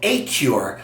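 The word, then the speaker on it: Acur: It's called A-CUR, and it's spelled A-CUR. So it sounds like cure, C-U-R-E, but it's spelled A-CUR with A-C-U-R.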